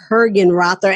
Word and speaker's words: Hergenrother: also tag our guests today which is Adam hergenrother and Adam please make sure I'm saying your